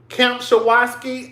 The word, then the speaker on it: Kempczinski: The CEO, his name is Chris Kempczinski. I can't pronounce his name. It's Kempczinski.